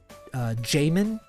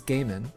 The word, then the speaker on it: Gaiman: I've heard Neil Gaiman, Jamin. I've heard that as well. I have not heard that one. I'm pretty sure that the proper name is Gaiman.